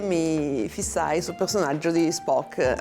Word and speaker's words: Spock: Quando cominciai a guardarla, eh, come molti e molte, mi fissai sul personaggio di Spock, anzi Spark, come a quell'epoca lo pronunciavano, lo pronuncierò sempre io.